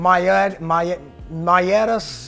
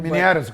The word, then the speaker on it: miniatus: So I have I can't say the first name, Maiatus grouper. I can't say it correctly. Miniatus grouper.